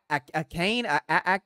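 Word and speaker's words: Achane: to pronounce his name is it uh Devon Kane Kane I think is how you say his last name had over 200 yards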